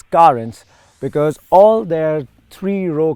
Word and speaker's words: Carens: karens now kia would like you and me to pronounce the name as currents because all their three